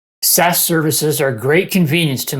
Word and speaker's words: SaaS: software as a service abbreviated saas and pronounced SAS is now the dominant